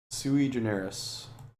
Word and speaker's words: sui generis: It is, instead, sui generis. Sui generis. Generous. I think the accent mark is showing that stress is on the first syllable.